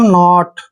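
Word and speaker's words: knot: पहले के आया है के को हम नहीं बोलेंगे यानी के का उच्चारण हमने नहीं करना है एन ओटी इसको पढ़ेंगे हम नॉट नॉट नॉट मींस होता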